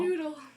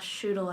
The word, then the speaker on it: Schnoodle: So schnoodle would be, Schnoodle. yeah. Can you use it in a sentence? How would we use it? Like, oh, shoodle, I messed up. All right, cool. Schnoodle. I said it wrong.